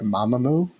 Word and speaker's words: Mamamoo: is number nine is uh i'm hoping i'm pronouncing this right mamamoo yeah you got it you got it right